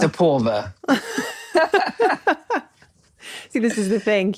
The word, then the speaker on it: Aporva: It's Aporva, not Aporva. It's Aporva.